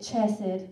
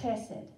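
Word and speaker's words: חסד: e d it reads chessed but that's not how you pronounce it amen they say you have to pretend there's a little tickle in the back of your throat HD like you're coughing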